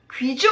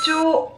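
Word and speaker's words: 貴重: " 키주 ." 그게 뭐 죠 ? " 키초 " 라고 발음 합니다 . 다시 한번 말씀 드리지만 , "ju" 가 아닙니다 . 이 경우 에는 "cho" 입니다 .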